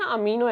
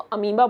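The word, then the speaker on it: amoeba: पे एक note point अंबा का नाम आपने सुना होगा देखो इसके स्पेलिंग होती है ए एम ओ ए बी ए इसको अमो भी नहीं बोलेंगे इसको अंबा बोलेंगे याद रखना के लिए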